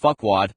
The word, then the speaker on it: Farquaad: Consider that the king in Shrek is named Farquaad, pronounced Fuckwad, while in Toy Story 2, Buzz's love-struck reaction to a cowgirl named Jessie makes his wings spring rigidly erect.